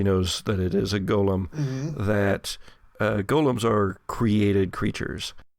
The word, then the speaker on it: golem: is no human servant this is gollum not gollum not gold eggs does it have eggs in its pocket but a golem it is spelled differently just yeah it is spelled differently this is the g-o-l-e-m gollum hmm and he took